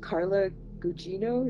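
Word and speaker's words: Carla Gugino: got a married couple who it has a Carla guccino is that how you say her name yeah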